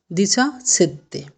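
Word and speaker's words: diciassette: এরপরে আসছে কি 17টা কি উচ্চারণ হবে? দিচা সেত্তে।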